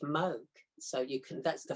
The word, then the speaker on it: Moog: and here is a mug synthesizer it's called moog folks not moog it's pronounced moog so you can that's the first thing you